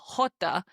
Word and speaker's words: jota: J, your J in Spanish, is always going to be pronounced as the H sound, like the word hello in English, okay?